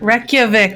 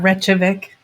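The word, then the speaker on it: Reykjavík: all the sea speakers reykjavik not retrovic it's wretched it's reykjavik okay whatever i'm not going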